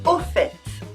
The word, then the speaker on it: au fait: Au fait Au fait means by the way. We use it to add something to the preceding conversation or line of thought. We always pronounce the t : au fait.